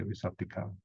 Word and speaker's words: visattikam: Because you pronounce without the T, you say visattikam. But here the T is like close quote.